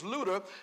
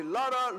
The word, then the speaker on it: Luter: this church these people they couldn't even pronounce my name my name is Luda and they were calling me they were calling me Lara Luther Lucifer everything yeah all kind